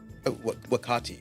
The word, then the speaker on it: Wakati: I call you wakiti wakati but I'm not saying you should call me wakati I'm saying that's how it's pronounced I'm saying that if